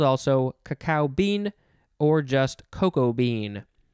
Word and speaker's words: cacao: Okay, next we have a word that I always say, cacao, which is one of the appropriate pronunciations, but it looks like you can also say cacao, cacao. It is spelled C-A-C-A-O.